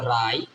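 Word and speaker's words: wrong: আর আই T right আবার লিখি রং দেখেন রং ডব্লিউ আর ও এনজি রং ডব্লিউ এর সাথে আর থাকলে ডব্লিউ এর উচ্চারণ হবে না আবার কি আছে ধরেন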